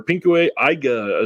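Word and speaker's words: pinku eiga: a pinka film or pinku AA sorry it's the proper way to say that um this is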